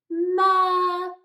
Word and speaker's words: murder: so it's not a vowel, so we don't pronounce it. So it becomes murderer, murderer.